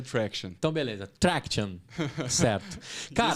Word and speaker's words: Tractian: No português é Traction. Tá, Traction. E no inglês é Traction.